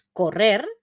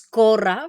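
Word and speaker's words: córrer: la pronunciación no es correr ni corra ni nada no sino que es corra fijaros en la acentuación Vale entonces corra lo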